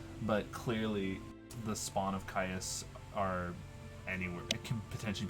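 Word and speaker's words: Kyuss: one of them oh i'm it's spawn of caius there we go i have to listen the uh the pronunciation so these are spawn of caius even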